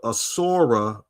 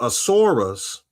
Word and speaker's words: Asura: In Vedic mythology, Shukra is called the Asura guru. The Asuras, or the Asuras, Asura, Asura, you could pronounce it either way.